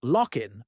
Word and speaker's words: LOC: The League of Once colonized Nations, LOC, pronounced lockin appropriately, was born from a unanimous vote to dissolve the United Nations for excessive nostalgia.